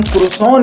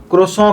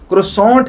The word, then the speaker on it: croissant: सबसे पहले तो समझ लें कि हम पाकिस्तानी आमतौर से इसको क्रोसों कहते हैं। कुछ बिल्कुल लाल दोस्त इसकी स्पेलिंग की वजह से इसको क्रोसोंट कहते हैं और वो शायद अंग्रेजी जबान में पाए जाने वाले साइलेंट लेटर्स के वजूद से मुकम्मल इंकारी होते हैं।